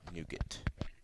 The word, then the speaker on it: Nougat: And yes, that is how you pronounce it, Nougat.